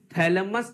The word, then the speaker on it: थैलेमस: जब पढ़ रहे हैं, थैलेमस जब पढ़ रहे हैं, तो इसमें ट्रिक क्या निकालेंगे? इसमें बोलेंगे थौ से ठंडा, थौ से थैलेमस। देखिए ठंडा होता है ठौ से, लेकिन हमें प्रोनाउंसिएशन देखना है।